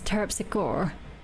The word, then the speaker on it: Terpsichore: support of course turkey what about the American pronunciation although you think is terpsichore well in these ones they seem to use it with the E on the end the E isn't silent hmm can you actually